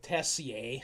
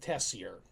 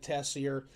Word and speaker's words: Tessier: I have always called it Tessier, using the more French pronunciation. My understanding is that locals in Saskatchewan call it Tessier. So I'm going to try and remember to call it Tessier.